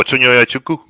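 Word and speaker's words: Chinonye Chukwu: Oh, Chunyoya Chuku.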